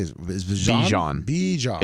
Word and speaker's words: Bijan: Bijan. It's like Dijon mustard, but Bijan.